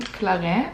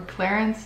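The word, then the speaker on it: Clarins: these they're all from clare or clarence depending on where you're from how you say it the rv is like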